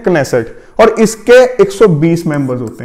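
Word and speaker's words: Knesset: यहां पे के साइलेंट नहीं है तो इसको बोलते हैं क्नेसेट, और इसके 120 मेंबर्स होते हैं।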